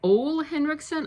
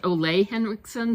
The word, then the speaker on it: Ole Henriksen: Next up, I picked something from Ole Henriksen. I've also heard it pronounced Ole Henriksen, so anyway, this is a lip balm treatment.